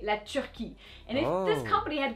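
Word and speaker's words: la Turquie: look at it yes turkey the animal you do say dunde but the country no that's not how you say it you actually say lechuki and if this company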